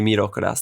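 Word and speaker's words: ミロカロス: it would be pronounced Milo Karas is how I pronounce it as the English-speaking American that I am but the literal the literal translation would be mirokuras there you go recreated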